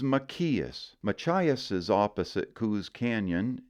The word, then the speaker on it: Machias: My favorite mispronunciation of our next word, Machias, is Machias.